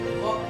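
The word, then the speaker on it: work: कसनेट आर के पास Kinnaird आ जाए तो हाथ साइलेंट होगा तो इसको वर्क नहीं वक पढ़ेंगे वक एफ ओ आर के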